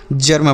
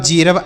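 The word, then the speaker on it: germ: जी ई आर एम इसे हम जर्म पढ़ेंगे। इसे हेरब जरब ऐसे बिल्कुल नहीं पढ़ेंगे।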